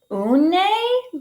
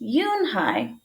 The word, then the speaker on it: Unhei: "Une?" the girl asked, scrunching her face. Uni," some kids chanted. "No, Yoon-hai," she spelled. It's Unhei. It's pronounced Yoon-hai.